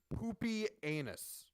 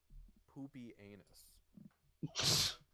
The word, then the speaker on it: Pupienus: the 3rd century named, I shit you not, Poopy Anus.